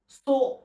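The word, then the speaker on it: す: একটা stroke, সো।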